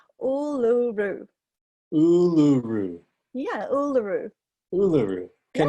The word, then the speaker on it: Uluru: We call it Uluru. Ulu? No, Uluru.